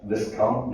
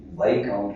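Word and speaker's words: viscount: लीना ने कहा विस्काउंट नहीं वाई काउंट कहते हैं।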